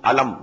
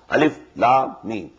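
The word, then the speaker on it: الم: they are the broken broken into pieces not pronounced as alif lam mean alam no alif la me alif ramra ala no alif da ra now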